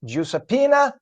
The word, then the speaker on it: Giuseppina: In Italian, it's pronounced Giuseppina Malace.